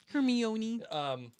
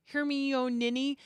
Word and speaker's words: Hermione: he still can't say her name yeah hermeone and they do that hermione and i just love it because this is